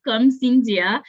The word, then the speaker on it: Karm-Syndia: So, so the It's whole like, first name is Karm-Syndia, but I know okay, sometimes it's difficult for people to pronounce, so I'm okay with Karm.